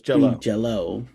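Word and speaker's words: Jellÿ: No, it's Jello. Green Jelly. It's spelled jelly, but pronounced Jello.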